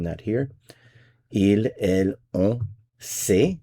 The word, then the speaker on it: sait: il elle ont sait, it's pronounced the same as these two, but it's spelled differently.